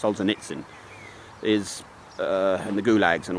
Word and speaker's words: Solzhenitsyn: The figure I have with Solzhenitsyn, it should be pronounced Solzhenitsyn, is, and the gulags and all that, Gulag Archipelagi, is 314 million people just disappeared.